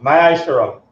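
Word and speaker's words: מעשר: Means tenth in Hebrew and is pronounced ma'asharam.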